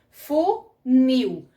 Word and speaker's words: funil: Então, é como aqui, ó, funil. A gente percebe mais o nil do que o fu.